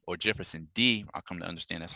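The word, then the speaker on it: Jefferson Dê: men who are brothers in the struggle like Jefferson G or Jefferson D I come to understand that's how you pronounce his name one of Brazil's top black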